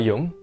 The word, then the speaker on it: Yeung: before you came on to make sure I'm pronouncing your last name. Is it Young or Yuang? Yeung.